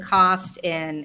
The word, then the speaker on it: CAWST: for 8 years now, and CAWST is how we pronounce the acronym, by the way. Some people will call it CAWST or something else, but the proper way is CAWST.